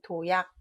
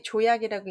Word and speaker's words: 도약: 이거는 도약. 조조자 때문에 조약이라고 있는 사람들 많습니다.